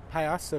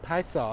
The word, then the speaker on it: Piasa: cool anyway that is called the piazza bird or the paisa i've heard it pronounced both ways the native american tradition